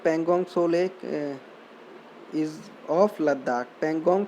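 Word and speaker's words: Pangong Tso: Pangong So Lake, T is silent. Pangong So Lake is of Ladakh.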